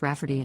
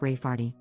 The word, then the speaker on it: Rayfarty: name my niece Rayfarty, pronounced Rafferty, not at all like Rayfarty.